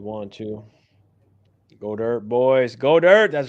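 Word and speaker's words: Goedert: this how do you how do you pronounce the tight end for Philadelphia got her thank you boom we know it's got her I'm just always gonna go with go dir because that's really what it is he just doesn't want us to say it that way we we basically had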